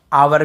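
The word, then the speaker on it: hour: यही बोल रहा है ओ के पहले यदि एच है तो हमें एच को नहीं पढ़ना ठीक है एस सेलेंट रहता है क्लियर हो गया ऑनर ऑनेस्ट आर आवर भी बोलते हैं आवर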